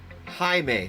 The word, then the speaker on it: Jaime: It's pronounced Jaime since it's Hispanic.